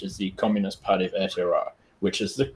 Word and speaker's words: Aotearoa: But how I have had it described to me is Aotearoa. So that will be Aotearoa.